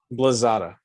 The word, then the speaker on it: Blasada: Howdy, Blasada. howdy. Did I say it right? Still no, but that's all right. Blazada. There you go.